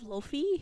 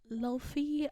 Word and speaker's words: Laufey: And I love Lofi, if you know her.